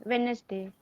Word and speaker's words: Wednesday: Wednesday. Okay. So D here, is silent. D is yes. silent. So but we have to Then stress on the when sound.